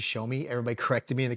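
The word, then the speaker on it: Xiaomi: I thought it was Yomi, but it's actually Show Me.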